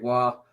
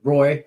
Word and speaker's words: Roy: six ah can't stand patrick wahl patrick roy by the way that's how we pronounce it here uh roy uh being from detroit